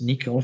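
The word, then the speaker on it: N1QL: of them nicole and one ql is pronounced nickel from couchbase and cql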